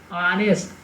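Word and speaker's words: honest: ಅದೇ ರೀತಿ ಆ್ಯನ್ ಆನೆಸ್ಟ್, ಆನೆಸ್ಟ್. ಎಚ್ ಇದೆ, ಎಚ್ ಅಂದರೆ ಏನ್ರಿ, ಕಾನ್ಸನೆಂಟ್ ಇದೆ. ತಿಳಿತಾ, ಕಾನ್ಸನೆಂಟ್ ಇದ್ರೂ ಕೂಡ ಅದು ಯಾವ ರೀತಿ ಉಚ್ಚಾರವನ್ನು ಪ್ರೊಡ್ಯೂಸ್ ಮಾಡ್ತಾ ಇದೆ ಅಂತಂದರೆ ಪ್ರೊನೌನ್ಸಿಯೇಷನ್ ಯಾವ ರೀತಿ ಇದೆ, ಓವೆಲ್ ಸೌಂಡ್ ಇದೆ.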